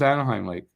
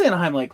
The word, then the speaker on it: Anahim Lake: yeah it's not yeah it's pronounced like anahim like I or something like that no it's pronounced Anaheim Lake oh it is Anaheim Lake what the oh no